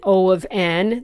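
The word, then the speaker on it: O(n): Now, as I said, you heard me say O of 1 and O of n. That's how you say it. O of, and then the value that's in brackets.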